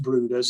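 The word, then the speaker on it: Bryde's: guaranteeable on this trip and um this is brood as well it spelled bride's well but pronounced brooders it's a rare tropical whale and it has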